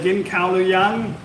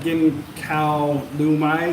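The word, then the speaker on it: กินข้าวหรือยัง: Gin Kao Luya, Gin Kao, you're supposed to say Gin Kao Luyang, not Gin Kao Lu Mai, say Gin Kao Luyang, same thing, have you eaten lunch yet?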